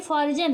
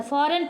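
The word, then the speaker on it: foreign: है साइलेंट होता है फॉरेन पढ़ेंगे फोरिजन नहीं पढ़ेंगे क्या पढ़ेंगे इसको फ फोरिजन लिखा है लेकिन हम इसको क्या पढ़ते हैं फॉरेन यहां पे बिनाई दिया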